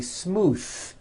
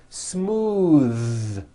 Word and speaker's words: smooth: believe it or not the th sound in smooth is voiced most foreign speakers say this word incorrectly they say smooth with an unvoiced th but it's voiced smooth bathe the word bath